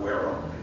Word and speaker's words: Wareham: to join us here my name is waram you pronounce it you put on your pants and